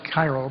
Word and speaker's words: Cairo: It's a unique place because it's spelled like Cairo, but they pronounce it Cairo.